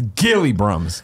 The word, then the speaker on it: Gilly Brahms: do gili Brahms parentheses BTW pronounced hard G my real name is my real name is Gil like a fish Brummett jelly timber nested hilly Brahms last week shaking my head so it's Gilly Brahms got it good gaily